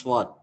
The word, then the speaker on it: sword: one, weapons, I pronounce sword. Actually, W should not be pronounced.